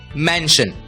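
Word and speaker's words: mansion: आवाज होती है शन इसलिए एम ए एन एस आई ओ एन का उच्चारण होगा मैन श मेंशन मेंशन का मतलब होता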